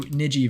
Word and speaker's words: Niji: Midjourney tip number 9 is to use the Niji style for anime styled images. Now I hope I said that right, but it's spelled N-I-J-I.